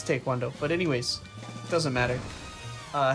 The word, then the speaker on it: taekwondo: It's pronounced that everywhere. Not in America. People just mispronounce it. Yeah, that's what I'm but- saying. It's not in But America. taekwondo is like, it's because if you say it fast, it kind of sounds like taekwondo.